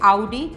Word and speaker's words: आउडी: Right, इसकी सही pronunciation होती है आउडी। बहुत लोगों को मैंने सुना है ऑडी ऑडी करते हैं, तो ये ऑडी नहीं होती है।